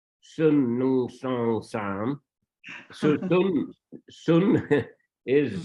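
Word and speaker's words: ศูนย์: So sun is 0. It is written sunya, but the Thais, they just don't pronounce the last ya. They pronounce sun.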